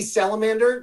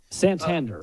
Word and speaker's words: Santander: so don't feel bad anthony salamander did i say it right dan santander santander you're thinking of animals but he he's he's